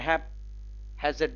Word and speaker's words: haphazard: द boy does his homework in ए haphazard way, in a haphazard way, in a haphazard way, क्योंकि stress H के ऊपर पड़ता है, in a haphazard way, in a haphazard way।